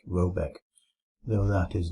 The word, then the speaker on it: Roback: The manor house or herrgård in question is to be called Roback, pronounced something like Robeck, though that is not its name.